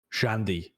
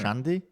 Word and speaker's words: Shandy: Shandy is apparently how you're supposed. That's how you're supposed to say it, Shandy.